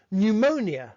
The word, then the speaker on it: pneumonia: beef from the Normans, pneumonia having a silent P because it comes from a Greek word.